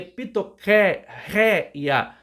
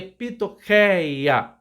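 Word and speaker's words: πτωχεία: primeira palavra é pitoqueia alguns pronunciam esse que com o nome ri Então seria pitoca réia Mas eu prefiro com a a pronúncia aqui então seria pitocaéia tá e o i a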